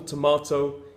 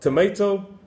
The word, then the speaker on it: tomato: certain words for example tomato is how British people say it tomato is how Americans say I don't like it